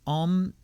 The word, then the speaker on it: Om: speak it as follows om sounds um om sounds like palm without the p am om